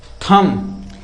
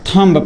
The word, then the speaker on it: thumb: ठीक है, THUMB, ये क्या लिखा गया है? थम। इसे हम क्या पढ़ेंगे? थम। लेकिन आज तक जो होते बच्चे पढ़ते आ रहे हैं, आप में से भी और हमारे जो स्टूडेंट्स हैं बहुत सारे, उनमें से भी बहुत सारे ऐसे स्टूडेंट्स हैं ना, इसको हम थम नहीं, इसको हम हमेशा थंब पढ़े हैं। ऐसे थंब पढ़ा जाता है, जो कि थंब गलत होता है, थंब नहीं पढ़ा जाता,